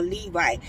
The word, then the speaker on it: Levite: Yeah, you had to be a Levite.